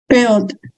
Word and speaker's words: build: Build. U-nya nggak usah dibaca, langsung I.